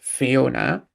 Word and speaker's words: Fiona: there is one usage of the word Fiona actually with the two little dots over the O, the diacritical mark, so we know it's supposed to be pronounced Fiona.